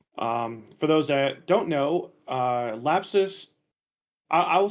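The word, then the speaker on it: Lapsus$: Cowboy, Yeah, so for the record, it is just pronounced lapsus.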